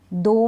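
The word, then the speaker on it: though: और फिर इसमें नेबर में, दो में, ऑल्दो में, दो में, ठीक है, ऑल्दो, दो, और इसको भी दो पढ़ेंगे। इनमें भी क्या है कि GH का उच्चारण नहीं है, क्योंकि I के बाद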